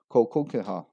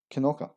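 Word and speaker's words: Kilconquhar: And at number 2, we have Kolkolkaha, which is actually pronounced as Kinoka.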